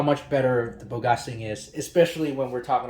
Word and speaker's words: Bogasing: It's how you pronounce Bogasing, I'm guessing. Or maybe we could pronounce it in the Huaqiangbei way. Bogasing! That's what we Chinese folks pronounce it.